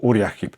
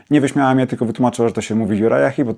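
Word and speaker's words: Uriah Heep: And there I asked for a Uriah Hip album . Well, the kind lady didn't laugh at me, she just explained that it's called "Juraja Hip."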